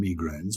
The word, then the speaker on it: migraine: to suffer from migraines you've got the migraines or migraines i got picked up by colin murray on countdown he said is migraine the posh version of migraine i've got a migraine i'd say migraine yeah well that's closer to the french we can say we're